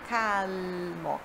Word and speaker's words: calmo: igual, mas no italiano, quando você tem o L em final de palavra ou antes de uma consoante, você puxa esse L, tem uma outra pronúncia, olha só, calmo, cal, cal, cal, calmo, tá? Não tem o som de U, calmo, calmo, é calmo, calmo, ok?